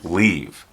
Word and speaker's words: leave: It's important to pay attention to the differences in pronunciation for the verbs live and leave. Sometimes students will pronounce this as leave because in their first language, the I is pronounced as an E.